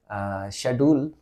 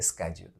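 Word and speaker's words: schedule: word लिखा हुआ है इसको हम अगर कहेंगे ब्रिटिश में तो इसको पढ़ेंगे शेड्यूल और अगर हम अमेरिका में पढ़ेंगे तो उसको कहेंगे स्केड्यूल दूसरा वर्ड वेरी सिंपल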